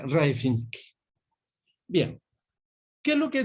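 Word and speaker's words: Rybczynski: Ese se pronuncia Raifinski.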